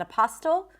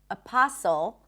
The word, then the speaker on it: apostle: Then the word apostle, we do not pronounce the T there. Not apostle, apostle.